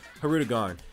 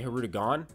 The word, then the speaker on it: Hirudegarn: R in his name I used to say her two gone there's little I didn't literally say NER so hopefully was forgotten